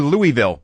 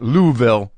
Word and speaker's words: Louisville: Kentucky 22nd through 25th or Louisville pronounced properly but Louisville pronounced if you're a local this episode of WTF